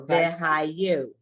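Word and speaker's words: וְהָיוּ: So the yud gets to be, say his name, it's a yud. So it's yo, it's you, I'm sorry, you, like you. So vehayu. Vehayu.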